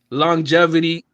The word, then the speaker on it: longevity: because of long long longetivity. Longetivity. I'm saying it wrong. Longevity.